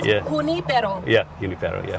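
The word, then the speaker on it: Junípero: It's just like Jimeno or Exemeno or Juanapero, which drives me nuts. Juanapero. Because the Spanish word, it's junipero.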